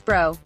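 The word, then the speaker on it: Breaux: announce the pick of Josh bro pronounced as bro I think he profiles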